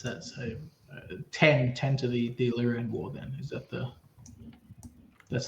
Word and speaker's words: Illyrian: My tongue wants to say the Illyrian War, but everybody says Iranian War. What's the pronunciation? It's Illyrian. Illyrian.